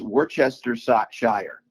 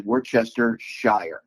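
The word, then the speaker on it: Worcestershire: So, it's Worchester Shire. That's how you say it. Ah, were So, Worchester, England is So, it's So, it's really Worchester Shire.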